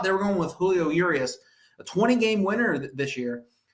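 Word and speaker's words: Urías: But I don't know if they're setting him up to try to save Julio Urias.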